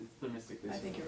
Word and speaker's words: Themistocles: It's Themistocles.